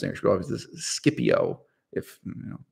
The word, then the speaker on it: Scipio: past maximus scipio so scipio is how we pronounce energy obviously this scipio if you know the letter c was never pronounced as a soft see any john anyway